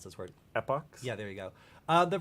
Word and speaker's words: epochs: How do you pronounce this word? Epochs?